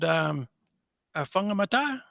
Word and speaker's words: Whangamata: But New Zealand, you're from a place called Whangamata. Is that That's how you correct. pronounce Yep. it? Sure. Yeah. Yeah. I left school in Whangamata there and started at Whangamata Panel and Paint